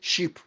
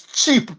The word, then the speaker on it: cheap: Even the word cheap, he used sheep because that's how the Nigerians pronounce sheep. Cheap, they pronounce it sheep. It's cheap, not sheep.